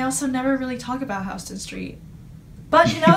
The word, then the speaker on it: Houston Street: there's a street called hon street it's not pronounced Houston Street but it's spelled Houston so one of the